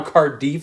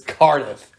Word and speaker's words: Cardiff: I can say that I prefer how cardif sounds but I am wrong and it's Cardiff oh the Cardiff giant